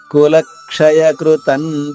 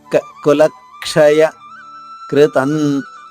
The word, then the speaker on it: కులక్షయకృతం: కులక్షయ లా పైన ఆఘాతం ఉంది కాబట్టి లక్, లాతో పాటు వెంటనే కాద్విత్వం చేస్తూ ఒక కాని లాతో పాటు పట్టుకోవాలి. కులక్షయ కృతం, కాకృత్వం తేలిగ్గా చెప్పాలి. కులక్షయ కృతం అని చెప్పకూడదు. కులక్షయకృతం అనుస్వర ఉచ్చారణ నా పొల్లుగా.